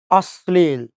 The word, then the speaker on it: অশ্লীল: অশ্লীল না অশ্লীল? উচ্চারণটা কিন্তু ভুল করেন। উচ্চারণ কি? অশ্লীল। ওকে, কেমনে একটু দেখি। দেখেন, অশ্লীলে এই অটা একটা নেগেটিভ অ, না অর্থে ব্যবহৃত হচ্ছে। যেহেতু না অর্থে ব্যবহৃত হচ্ছে, সেহেতু এখানকার অয়ের উচ্চারণ আমাকে অয় করতে হবে, ও করা যাবে না।